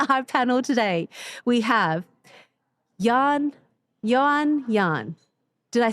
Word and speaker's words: Johan: So on our panel today, we have Yan. Yan. Yan. Did I say it correctly? Yan.